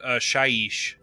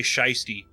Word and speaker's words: Shyish: I was expecting that it is pronounced shyish that sh out of here so it's like you're trying to say shyy no no it is not I say you did